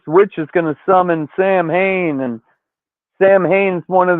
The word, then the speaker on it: Samhain: They're trying to unleash Sam Hain, which is pronounced Samhain, on day 70 of learning fucking Gaelic on this side.